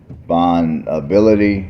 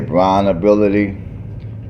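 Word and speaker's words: BraunAbility: they do have the I think you pronounce it like Bon ability or Brun B I want to say BR ability b r a u n ability which is a wheelchair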